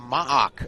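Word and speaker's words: MAAC: and one are the m-double-ac it's the m-double-ac that's what i refer to what the locals call it that must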